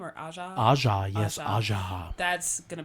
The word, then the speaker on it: Aja: Asia? Is that how we say her name? Or Aja? Aja, yes, Aja.